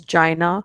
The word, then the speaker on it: China: he meets a girl he calls her Gina but she says no my name is China so now every time